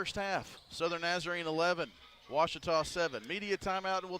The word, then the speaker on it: Ouachita: for washida baptist university back in texas everybody pronounces it wichita but really it's ouachita washington washington how would you pronounce it it's washita baptist university get it right it's water tall